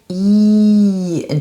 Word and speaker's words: Ei: IE is a long E in German. And EI is pronounced I. And I is also a word, a German word. It means egg.